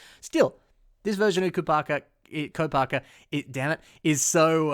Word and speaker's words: Kopaka: so i think that or co parker i always do that i always do that i always say it wrong it's just how i grew up saying it i apologize still this